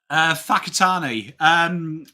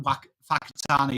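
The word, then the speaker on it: Whakatāne: is strength of man, Whakatane is strength of man. And he's like, excuse me, ma'am, I'd just like to say, why do you pronounce it fa? WH is wa. Whakatane. Whakatane. Whakatane is how you say it.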